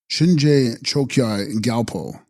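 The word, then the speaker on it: Shinje Chökyi Gyalpo: one deity and text Shin reji galpo pronounced shinj choki galpo sanskrit dharma raja plus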